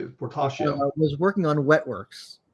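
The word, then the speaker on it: Portacio: um so so will fertacio and i might be saying his name incorrectly no you actually you're saying it correctly portasha was working on wet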